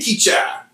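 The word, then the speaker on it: Keatchie: kept in the office, we still call it Kichi. But when I get out there, it's spelled Keat or Chi or whatever. Sometimes there's a T, sometimes there's an E on the end. I don't know why. There's multiple ways to spell the name of the city. And the guys up there, because we're close to Northwest Texas, are like, "Oh, you mean Keat-Cha? Keat-Cha, Louisiana."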